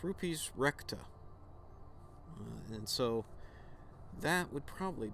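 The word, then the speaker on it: Rupes Recta: moon uh and that's uh i'm gonna probably pronounce this wrong but it's is that right yeah it's rupees recta and so that would probably be is that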